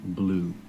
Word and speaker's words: blew: Blue pronunciation, just like the color blue. Blue.